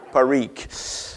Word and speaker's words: Parikh: Here's how you pronounce his name, okay? And you're drinking gin. Sajan, okay? Parikh.